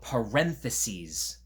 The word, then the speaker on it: parentheses: They're called parentheses. You want to say that? Parentheses. Parentheses. That's 4 syllables.